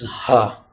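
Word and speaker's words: ح: And the other one is Ha. And this Ha letter pronounced from the bottom part of the throat, as you see in this example.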